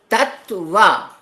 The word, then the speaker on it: Tattva: Tattva has two sounds in it, two syllables in it, tat and va.